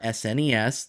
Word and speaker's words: SNES: The Super Nintendo Entertainment System, or SNES, that is the proper way to say it, was so cool.